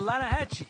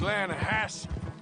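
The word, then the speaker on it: Lannahechee: river no no no no no the the lana hatchy it runs right near here yeah but it's pronounced laying a hass why is everything in english said differently than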